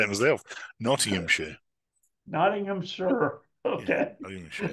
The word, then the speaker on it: Nottinghamshire: I can't even say it myself naam sure Nottingham sure okay sure like s in American English so